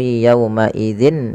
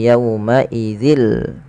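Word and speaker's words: يومئذ: Ya, maka dia bacanya bukan lagi wailu yauma idzin lil mukazzibin tapi wailu yauma idzil. Ya, langsung.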